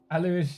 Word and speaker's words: Alu: Alu is how it's pronounced in Germany.